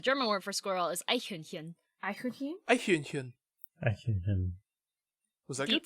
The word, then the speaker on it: Eichhörnchen: Eichhörnchen. Not Hühnchen. Hühnchen. There's two different sounds at the Oh, end.